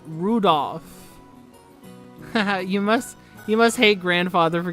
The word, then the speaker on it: Rudolph: That mess of characters is pronounced Rudolph.